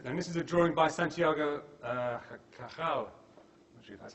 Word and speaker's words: Cajal: This is a drawing by Santiago Cajal, actually that's how you pronounce it, who was a neuroscientist, Nobel Prize winner.